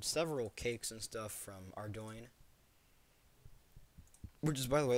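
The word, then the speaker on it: Ardougne: Cakes cannot because you can get them with a thieving level of five and ardoin, which is how it's pronounced. It is pronounced ardoin. I used to say Ardugney because that always made sense.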